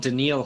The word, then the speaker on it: Danielle: is our boy I wasn't called Daniel hunter Danielle Danielle yeah that's how it's spelled exactly the same I wouldn't call him Danielle to his face there no I wouldn't